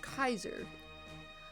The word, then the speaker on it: Caesar: It's from a Goofy Flash series called uh Caesar Fistulus, pronounced Kaiser. Oh, Kaiser Fistulus.